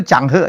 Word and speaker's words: Cheng Ho: Ternyata bacanya itu Changhe ya, bukan Cheng Ho ya.